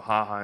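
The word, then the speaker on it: jaja: So if I run that same query, it's spelled J-A-J-A, so haha in Spanish or Portuguese, you can see, concentration of where people are laughing in South America, Spain, Mexico, and other areas here.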